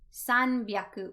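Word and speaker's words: 三百: The number 3 changes the pronunciation, and it's not hyaku, but byaku. Sanbyaku would be 300.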